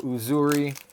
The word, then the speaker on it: Uzuri: what's up always love seeing my favorite hero uzuri and I've said it before say it again that is how you pronounce it is it is a Swahili name